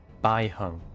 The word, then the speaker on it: Baiheng: hung the foxan pilot B hung that's how you pronounce it B hung I think I've seen